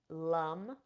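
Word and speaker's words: Lam: so the seed sound for the root chalk Shakra is Lum it's spelled l a m but we pronounce it Lum and um and I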